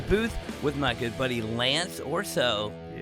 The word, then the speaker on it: Lance Orso: I'm your host and today I'm in the booth with my good buddy Lance Orso. Yeah, I pronounced that right?